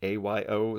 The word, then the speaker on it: Ayo: she was uh but her name is io ao ayo is how it's spelled and i looked up